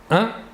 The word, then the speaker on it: un: une il s'écrie humaine il faut bien différencier la prononciation entre le masculin et le féminin au masculin 1 et au féminin une voilà encore deux exemples